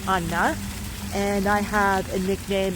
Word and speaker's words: Anna: So I'm telling you this because my name is Anna, and in Hungarian it's pronounced Anna, and I have a nickname, and